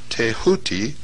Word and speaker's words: Thoth: ibis-headed scribe of the gods Thoth, pronounced Tehuti.